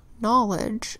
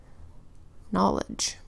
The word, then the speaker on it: knowledge: DGE phonogram it was knowledge write this down knowledge is spelled with the KN phonogram that says mm-hmm Oh WL e d GE knowledge knowledge means facts information and